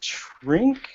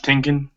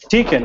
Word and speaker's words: Tinkin: And finalized the lineup with that original bassist Trink. Am I pronouncing that right? Oh, bassist Tinkin. Tinkin, yeah, okay.